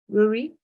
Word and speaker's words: Ruairí: name um and I'm not sure how to pronounce your name Rory is it yes many of my friends are the same but Rory is good that was as good